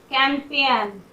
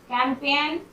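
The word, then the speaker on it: campaign: हस्ताक्षर कैंपेन, कैंपेन, यहाँ भी जी का साउंड नहीं हो रहा।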